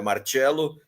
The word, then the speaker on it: Marcello: Então, meu nome é Marcello, é assim mesmo que se pronuncia, com 2 L's, sou filho de italiano,